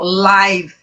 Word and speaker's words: live: Lembra que a letra E é o que mesmo? A letra E no inglês? No finalzinho das palavras, a maioria delas é muda, não é isso? Ó. Live. Ok? Live.